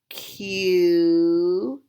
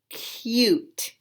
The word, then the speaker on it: cute: going to work together this is our magic e or silent e magic e doesn't say anything but it makes the you say its own name so let's put these two sounds together cute cute very good now